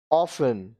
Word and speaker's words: often: अब देखिए यहाँ पे T साइलेंट. Hasten, जल्दी करना. Hasten, जल्दी करना. Listen, सुनना. Listen, सुनना. Often, प्राय.